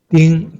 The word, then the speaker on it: 盯: Next one, 盯. 盯, D-I-N-G, the first tone.